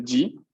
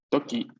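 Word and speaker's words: 時: Este kanji se lee G, pero también ese kanji se lee toki.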